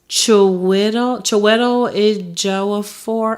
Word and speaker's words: Chiwetel Ejiofor: He's an English actor, and his name is pronounced. He played on 12 Years a Slave, so y'all don't kill me. Chiwetel Ejiofor.